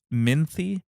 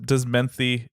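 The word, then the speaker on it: Minthe: Wait, did you say the same name twice? Minthy or Menthy? Where's the difference? There's an irony, girl. An irony, yeah. But does Menthy ring any bells? No. Just think about how it's spelled. M-E. Menthol.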